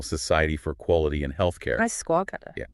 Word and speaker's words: ISQua: And also the National Accredititation Board for Hospitals and Healthcare Providers, NABH, plus Supreme Consultancy and Isqua, that's the International Society for Quality and Healthcare. Isqua, yeah, pronounced ISQUA.